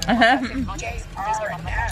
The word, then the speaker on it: Barnana: I pronounce it B-A-R-N-A-N-A. Oh, it's Barnana.